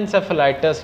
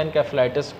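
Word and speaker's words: encephalitis: उससे जो है वो एक कंडीशन होती है उसको हम कहते हैं एंसेफेलाइटिस या एनकेफेलाइटिस, कोई भी प्रोनाउंस हम कर सकते हैं।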